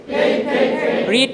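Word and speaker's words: read: রিড পড়া, রিড, রেড, রেড। বানানটা একই কিন্তু উচ্চারণ ভিন্ন, মনে থাকে যেন, ঠিক আছে।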